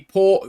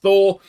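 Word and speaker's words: Þór: think it might be Port which I've since been told is pronounced Thor and if I'd known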